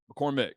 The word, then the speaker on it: McCormack: two so this is mccormack mccormick mccormick or mccormack mccormick spelled with an a for some stupid reason right so mccormick if